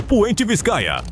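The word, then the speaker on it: Puente de Vizcaya: A ponte de Viscaia ou na pronúncia original puente Viscaia, na província espanhola de mesmo nome, é uma realização notável da engenharia e dificilmente terá visto algo semelhante.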